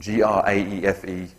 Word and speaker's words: Graefe: It's spelt G-O-E-T-Z. I'm going to pronounce that Goetz. And G-R-A-E-F-E, Graefe.